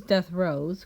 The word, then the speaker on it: Dethroez: It is pronounced as death rose, which is including the description and author's note.